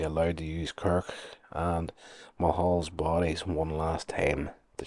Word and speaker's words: Mulhall: Uh Dr. Ann Mulhall, m u h m u l h a l l. Mulhall, that's yeah, that's the way it's said.